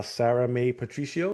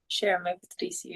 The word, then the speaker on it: Shera Mae Patricio: I am here with um bantamweight I would say contender uh Sarah May Patricio. Is that how you say it? Shar Patricio.